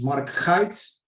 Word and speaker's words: Marc Guyt: you for having me my actually name is Mark Heights which is sort of you know nobody can